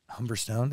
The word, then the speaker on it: Humberstone: I guess but people people never know whether to say humberstone or humberstone and I don't really know which one it is I think I flick between the two humberstone is I say it right yeah yeah yeah you're saying it perfectly I think you can